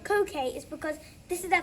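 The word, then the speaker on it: coquí: My favorite picture is over there with the coquille, is it pronounced? Coquille, yes, Yeah.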